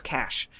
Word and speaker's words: cache: I always mispronounce cache. It's cash.